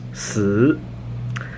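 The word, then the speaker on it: 死: Four is pronounced si, and death is pronounced si.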